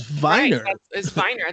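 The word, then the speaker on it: Weiner: is no such thing there is no last name anywhere of name winner like anthony winner they're like you know that's not how you pronounce and so you're lending yourself to be obviously ridiculed right right uh meanwhile you could tell everybody correct everybody my last name is viner that's not actually the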